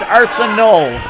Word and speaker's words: Arsenault: to correct you because he really hates the way you say his name it's arson old arsenal angel' okay